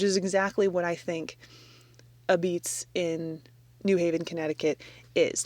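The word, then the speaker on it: apizza: It's called A Beats. A pizza is how it's spelled.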